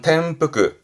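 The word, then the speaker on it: 転覆: 발음은 템프크, 템프크. 텐 때문에 바뀌어서 템프크입니다.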